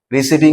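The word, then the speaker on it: receipt: meaning এটেন acknowledgement of রিসিভিং something কোন কিছু যেটা রিসিভ করলাম তার একচুয়াল প্রানসিয়েশন আমরা কি বলব বলি নট রিসিভ পি পি এখানে নেই এ পি হচ্ছে সাইলেন্ট এখানে খেয়াল করব মানে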